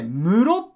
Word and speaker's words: 室: ね漢字一文字この室って感じだけどと読み方がねぇこれでむろっておりますそう